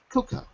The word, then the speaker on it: cocoa: So it looks like cocoa, but it's not. It's cocoa. Cocoa.